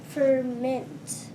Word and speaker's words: ferment: sounds best to you some words are like different parts of speech and and you accent the first syllable in one part of speech and the second syllable in another part of speech so verment or ferment ferment I think ferment sounds better to me put your accent on the second good job okay number